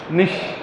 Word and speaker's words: niche: a niche yes exactly Nish pronunciation is like Nish okay very important concept